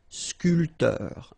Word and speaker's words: sculpteur: This P here is not pronounced. So, sculpteur, un sculpteur, un sportif, un peintre.